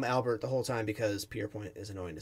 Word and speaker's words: Pierrepoint: I'm gonna say that so it's peer Point pretty sure that's how you say it I'm gonna call him Albert the whole time because pierpoint is annoying to say